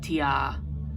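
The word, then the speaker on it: Tyr: the battle God um there's a lot of different pronunciations of his name it can be T Ty T Tia um it it's so I I it's so weird how many times I've heard different types of his name being pronounced but I've always just pronounced him tighter okay it's just easier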